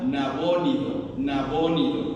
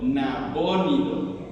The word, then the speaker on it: Nabónido: El padre de Belsasar era un hijo del rey Nabucodonosor, y se llamaba Nabónido, así como suena con acento en la primera O, Nabónido, ¿sí?